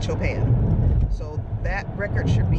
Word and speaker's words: Chopin: I was called Chopin I know it's not chopping but I think it's Cho pan so that record should